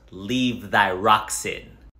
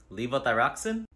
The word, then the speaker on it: levothyroxine: something for my thyroid I think it's called leave thyroxine levothyroxine that one okay anything else I recently started